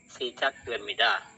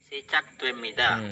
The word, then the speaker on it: 시작됩니다: 시작됩니다. 시작됩니다 atau lebih enaknya 시작됩니다. Jadi double T.